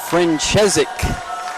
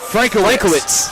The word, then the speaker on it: Frankowitz: Loyola will be going with number 1, Paige Franchezik. Frankowitz. I see the pronunciation guide down there now.